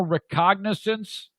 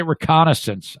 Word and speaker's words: recognizance: Personal recognizance? Recognizance. I used to say reconnaissance.